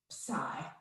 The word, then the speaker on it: psi: greek and i and you almost don't say the p the p almost kind of disappears when you say it um yeah this yes